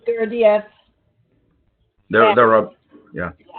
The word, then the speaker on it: Gurdjieff: I've heard it pronounced many different ways, but from the people closest to Gurdjieff, who are students of his students, it would often be pronounced Gurdjieff or Gurdjieff or Gurdjieff. I pronounce it Gurdjieff. Either one is correct, but I think Gurdjieff is perhaps closer to the correct pronunciation.